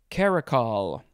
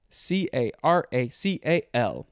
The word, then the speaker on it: caracal: Okay, next we have caracal, or just caracal. C-A-R-A-C-A-L. C-A-R-A-C-A-L, and that pronounces caracal.